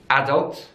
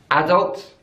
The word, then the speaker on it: adult: So in British English, it's adult, adult. So the stress is on the first syllable. But in American English, it's adult, adult. So the stress is on the second syllable.